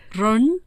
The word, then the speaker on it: 人: 사람들은 그냥 ren 이렇게 하는데 런, 사실은 그게 R 발음이 아니고요. ren. R과 깊은 우리나라 왜 옛날 세종대왕 시절에 세모 글자 있었죠. 세모. 그게 즈 이런 발음이잖아요. 그 발음이 섞인 거야.